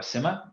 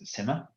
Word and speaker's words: SCIMMA: that as well okay so I'm Simha that's how we pronounce it we just had a debate over slack as to whether it was skimmer or Simha it is Simha this project is a